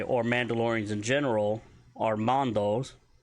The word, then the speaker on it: Mando: Mandalorians in general, are Mandos, spelled M-A-N-D-O, pronounced M-A-H-N-D-O. So you're going to put a harder emphasis on the man than you do the do.